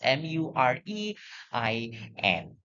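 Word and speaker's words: murein: It is spelled as mur r e i n.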